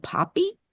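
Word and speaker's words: Poppi: one that it seems very popular is called poppy or poey how do you say it poppy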